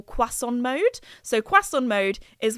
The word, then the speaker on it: croissant: because I know that my American friends, you guys say croissant, but in French, like the French, they say it croissant.